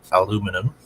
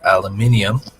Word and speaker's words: aluminium: So I saw uh an essay on etmology saying that the I that British people add to aluminum to pronounce it aluminium was added simply to